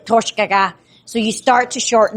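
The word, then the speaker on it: Toiteach A Dhà: When it's on its own, it means smoky, and it's pronounced as Toichik. When you add words to the end of this one means smoky too. It changes the way that you actually pronounce the first word. So it's not Toichik aga, it's Torshgaga.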